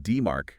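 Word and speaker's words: DMARC: Pulk senders must have aligned deep ar that's pronounced demar, right? Demar. Exactly.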